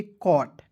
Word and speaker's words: caught: और अंतिम में दोस्तों GH याद रखिएगा, GHT आएगा तो इसका उच्चारण जो है ट के रूप में करेंगे, ठीक है। तो क्या हो जाएगा दोस्तों, ट। तो हो जाएगा दोस्तों कॉट, CAUGHT पढ़ेंगे कॉट।